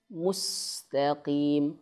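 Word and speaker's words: مستقيم: Bukan mus tapi mus. Beda ya. Harus teliti teman-teman perhatikan. Kalau kita bacanya mustaqim. Mustaqim kurang sempurna domahnya. Domah apa nih? Mim. Mus. Monyongkan dikit. Mus. Mus. Bukan mus. Mustaqim. Nah. Jadi o. Mus harusnya u mustaqim yang pertama ini.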